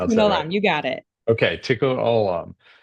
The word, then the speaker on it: Tikkun Olam: Did Yeah, I pronounce tikkun that right? olam, you got it. Okay, Tikkun Olam.